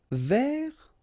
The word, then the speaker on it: vers: Vers, so you don't pronounce the final S, means towards or about.